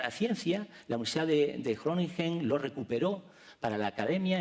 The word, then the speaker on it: Groningen: Estudió química en la Universidad de Groningen, o sea, se escribe Groningen, pero la pronunciación es como una geada, Groningen.